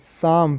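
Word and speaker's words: psalm: शाम, पी के बाद एस आया है, जब पी के बाद एस आता है तो पी जो है साइलेंट होता है।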